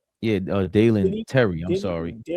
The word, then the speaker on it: Dalen Terry: Darren Tyler. Yeah, Dalen Terry.